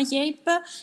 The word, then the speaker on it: Yape: Grazie mille, la pronuncia è giusta, la nostra azienda si chiama Yape e per presentarvela vorrei presentarvela appunto con un video.